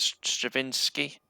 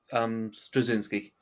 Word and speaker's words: Straczynski: kicks in with I'm going to pronounce his name wrong now. Is it Stravinsky? J. oh, J. Michael Michael Straczynski, yeah, Yeah, where he just writes them all, doesn't he?